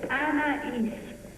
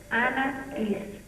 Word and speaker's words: Anaïs: It's Anaïs. Anaïs. Anaïs.